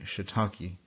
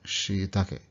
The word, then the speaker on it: shiitake: In English, we say shiitake, but of course, that's not how a Japanese person would say it. Now we see that there's the doubled E there, so it should be she, right? And then the, not taki, but take.